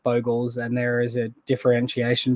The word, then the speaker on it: Bogles: or boggles um i i learnt as boggles but uh i i figured when i started creating content i should probably call it by its actual name um so yeah got the habit of calling it boggles um but i do believe it's pronounced bogels and there is a